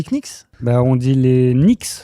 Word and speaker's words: Knicks: Bah, on dit les Knicks. Prononce comme pas le K. Le genou, c'est ni. C'est pas gni. C'est écrit Knicks.